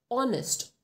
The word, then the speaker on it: honest: egg an honest man though the spelling starts with an h but we pronounce it as honest o that's why we